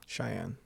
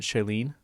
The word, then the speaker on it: Shailene: Cheyenne. Isn't it Shailene? Yeah, Shailene. The way it's spelled is Shailene. Either way, however you say it.